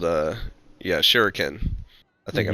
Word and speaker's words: Shuriken: But it's Isn't it the Shuriken? Japan. Yes, there you go. I could just click on it and see. So it's called, yeah, Shuriken.